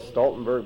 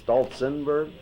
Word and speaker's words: Stolzenberg: Now, Marie, you're saying there's a different spelling of the, we call it Stoltenberg, but you say it's Stolzenberg?